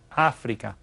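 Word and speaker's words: África: doesn't it Europa and down here we have Africa Africa and you see there's an accent mark on that first day so we stress it Africa over here is Australia Australia again it's spelled the same but we pronounce it a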